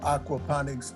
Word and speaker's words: aquaponics: So Charles, I'm really interested in finding about the aquaponics industry that you're in. Am I pronouncing it correctly?